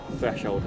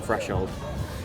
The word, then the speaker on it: threshold: I'm really trying to pronounce my th's. It's a bad habit I've had since childhood and it takes me a couple of seconds to say threshold cuz I'm so used to saying fresh hold.